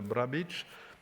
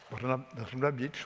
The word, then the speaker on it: Brnabić: So I launch immediately the discussion, starting with you, Madame Brnabić. I pronounce less well than the first time. Brnabić.